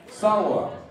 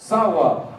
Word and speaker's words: Sawa: Sawa. Did I say it right? Perfect. Sawa.